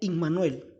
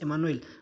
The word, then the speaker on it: Immanuel: Dice que será llamado, en hebreo se pronuncia Immanuel, no es Emanuel. Bueno, Emanuel es en español, pero en griego es Immanuel.